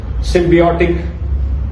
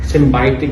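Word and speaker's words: symbiotic: अब मान लीजिए यहां पे सिंबायोटिक लिखा है और मैं बोलूं सिमबायोसिस। सिमबियोटिक सिमबियोटिक नहीं है। सिंबायोटिक है।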